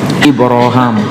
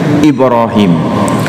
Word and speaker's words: Ibrahim: nama itu muncul apa ibraham boleh juga dibaca Ibrahim waid yarfau ibrahimul qawaida Minal Baiti wa Ismail jadi namanya boleh disebut dengan lahjah dengan pelafalan Ibrahim atau ibraham sementara saudara kita yang